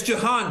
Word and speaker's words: Jahan: Yeah, it's Jahan Dotson, just so you know. I don't know how they pronounce it in Australia, but here in America, it's Jahan.